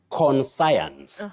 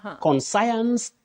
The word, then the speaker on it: conscience: We have the word science, but we should not say conscience. Conscience, no. You say conscience.